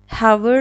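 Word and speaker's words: hour: اشتباهه خب مثال بعدی اور رو داریم ببین اینجا با اینکه اچه ولی اچ تلفظ نمیشه اور نباید بگیم اور یعنی ساعت خب اچ اینجا سایلنته و و و ببین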